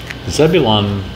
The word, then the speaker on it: Zebulon: the fact that the light has G Rudy pronounce them correctly Zebulon it's correct naali thank you um I'll never